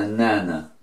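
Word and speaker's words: なな: Bueno, para pronunciarlo sería nana.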